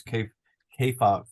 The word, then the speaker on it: kayfabe: about this book, this kayfabe. Kayfabe. It rhymes with hey Kayfabe. babe.